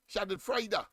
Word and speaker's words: Schadenfreude: It doesn't end, it ends with D, yes, D and an E. But of course, that's how they pronounce it, Schadenfreude.